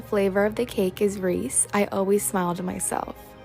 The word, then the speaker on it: Reese: many videos explaining that in canada there's no extra s on the packaging i know for a